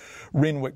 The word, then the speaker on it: Renwick: Thomas Rennick it's spelt with a w but pronounced with two N's who came to New